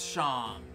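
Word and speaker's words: Seam: anything better to do the name scene pronounced shawn and this is my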